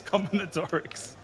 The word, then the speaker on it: combinatorics: I must just pronounce it like an Aussie bogey. Oh yeah, it's combinatorics.